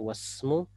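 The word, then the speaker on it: واسمه: adalah Muhammad wasmu perhatikan jadi kita nggak baca Wais semua pertanyaannya adalah kalau kita baca waismu apakah orang Arab tidak akan paham tetap paham untuk cara membacanya yang keliru ya keliru cara membacanya harusnya wasmu karena dia adalah Hamzah washal tetap bisa dipahami Ya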